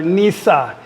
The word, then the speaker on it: Nice: gonna go to Nash it's a nice place in France they actually pronounce it there Nisa Nisa we're going to